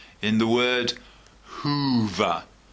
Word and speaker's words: Hoover: one a long o sound in the word Hoover Hoover Hoover so I want you to practice getting